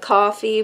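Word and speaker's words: Coffey: Mile he says it's you say it like coffee but it ain't spelt the same mm-hmm that's funny I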